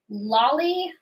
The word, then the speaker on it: Loli: So is it Lolly Loli? Loli? How do you say your name? Hi, Loli. Loli, perfect.